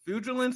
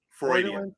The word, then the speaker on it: Freudian: Bush had, how you pronounce it? Fraudulent slip? Freudian slip.